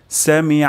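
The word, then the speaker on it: سمع: আল্লাহ হয়ে যেতে পারে তাহলে এখানে আমরা আইন উচ্চারণ করব গলার মাঝখান থেকে সামি আল্লাহ সামি আল্লাহ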